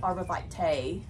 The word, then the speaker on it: arborvitae: I guess it's arborvitae, and I say arborvitae. And if we probably go back to the Latin, we're probably all saying it wrong because the V would sound like a W.